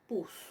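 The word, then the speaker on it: Οἰδίπους: Entonces, oidipus, hoy. Y la segunda parte, pus, ¿sí? En esa parte pus, acuérdense que sea omicron y es un diptongo y no se pronuncia o, sino que se pronuncia u, ¿sí?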